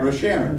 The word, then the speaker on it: Rosharon: Rosharon, just like it's spelled.